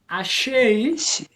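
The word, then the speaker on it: אשי: Now be careful with alephs. We don't say hey, we just pronounce the vowel. Ashe. Ashay. There you go.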